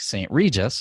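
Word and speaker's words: St. Regis: from that but still at some places like Saint Regis I'll say it correctly this time you can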